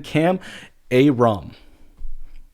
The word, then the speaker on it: Kam Ayrom: And then Kam Ayrom.